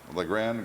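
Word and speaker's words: Lagrand: LeGrand. But it's spelled, they spell it around here L-A-G-R-A-N-D-E, but on my birth certificate it's L-A-G-R-A-N-D.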